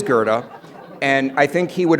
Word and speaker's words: Goethe: the CTA bus drivers routinely mispronounces gothy but it is Gerda and I think he